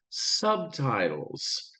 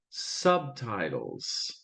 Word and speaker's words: Subtitles: Subtitles. Now there's a B there, but it's not very hard. It's not very pronounced. Subtitles. Subtitles. The B is a little softer and the T is stronger. Subtitles.